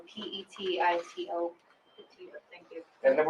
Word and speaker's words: Petito: Can you pronounce her last name for us? Sure, it's Petito, Petito.